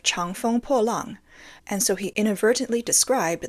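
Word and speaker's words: 长风破浪: He seemingly said, Chang Kong Po Lan, instead of Chang Feng Po Lang, and so he inadvertently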